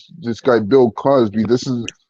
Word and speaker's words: Cosby: What's the Crosby Show? Sorry, did I say it wrong? It's Did I say it wrong? I apologize. I'm Canadian. I'm Canadian. It's Canada Day tomorrow. Crosby. That's all right. No, Cosby.